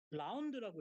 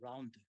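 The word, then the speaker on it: ∂: 라운드라고 읽어요. 라운드. How can we read this? 라운드 x, 라운드 v. 라운드라고 읽습니다.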